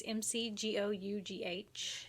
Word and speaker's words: McGough: Anyways, today's special because we did a interview with, we're assuming his name is pronounced Bob McGough. It's McGough.